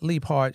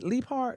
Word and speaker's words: Leapheart: Am I saying it right? Leaphart or Leap? Yeah. Okay. Leaphart. I'm missing the H. Leaphart.